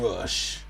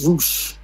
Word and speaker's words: Rush: Okay, well, I mean, it was John Moxley taking on Rush, and it's Roosh.